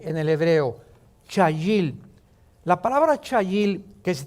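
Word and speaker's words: חַיִל: La palabra hebrea chayil. C h a y i l en el hebreo. Chayil.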